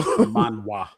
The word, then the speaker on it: Manhwa: So Manhwa.